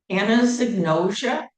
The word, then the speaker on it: anosognosia: Anaignosia. It rhymes with ambrosia.